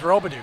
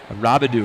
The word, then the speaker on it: Rabidou: And again, I got corrected on my pronunciation of Rabidou. I went to their wrestlers. I was wondering about that because I always went with Robidou. Yeah, no, it's Rabidou is what they pronounced it.